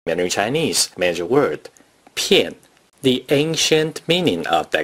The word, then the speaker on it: 片: 片 is the fourth tone. Please pronounce it after me. 片片片 Here are some common